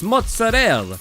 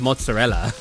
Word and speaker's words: mozzarella: I like the uh videos where you'll see like Italian Americans say like uh it's mozzarell instead of mozzarella, but then you'll see Italians like Lionfield for example be like it's pronounced mozzarella.